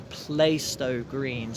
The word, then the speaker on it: Plaistow: the announcements do say Plaistow Green, so I think this one is pronounced differently to the one on the District and Hammersmith City lines.